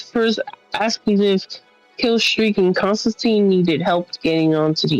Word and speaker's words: Constantine: catch your name to Constantine. Killstreak successfully leapt out and jumped on one, and Constantine's like, the name's Constantine, or the name's John Constantine, and he gives a little like, rhymes with Ween.